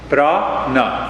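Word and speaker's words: प्राण: when we talk of prana brah na two syllables this he sounds good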